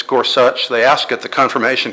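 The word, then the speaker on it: Gorsuch: such by the way that's how you actually pronounce his name it's scors such they ask at the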